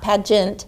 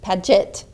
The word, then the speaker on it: Paget: I am here with Miss Cheryl Paget, not Pageant, Paget.